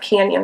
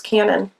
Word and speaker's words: Canon: It's not Canyon, it's Canon. Sorry. Canyon would have a Y.